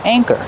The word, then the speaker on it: anchor: of the word anchor use a long a like say and day a anchor and the second syllable is the ER like Burger together anchor and keep